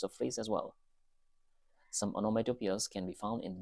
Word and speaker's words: onomatopoeia: The pronunciation goes like this: onomatopoeia.